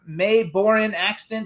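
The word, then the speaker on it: Mae Boren Axton: So you guys, Hoy also has a famous grandmother, May Borin Axton. Did I pronounce it right?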